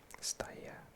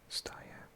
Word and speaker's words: Stage: Goals from, is it Stage or Stage? And Dux. Can I find out? Oh, it's Stage. He's Danish. Steyr, probably pronounced.